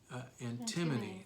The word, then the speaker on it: antimony: Antimony, that's how you say it.